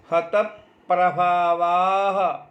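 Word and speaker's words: हतप्रभावाः: तो त में यदि हम हलंत पकार को जोड़ देवें, रभावाह अलग से बोलें, हतप प्रभावाह। पुनः सुने और गौर करें, हतप प्रभावाह, यही सही उच्चारण है।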